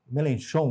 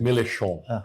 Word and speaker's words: Mélenchon: Então nós temos aí, e veja, o vencedor das eleições, o Mélenchon, ele não é um grande Mélenchon, né, a pronúncia? Mélenchon.